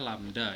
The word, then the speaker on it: lambda: Ini dibaca lambda ya. Nah, ini dibaca lambda. Lambda. Nah, ini dibacanya lambda gitu.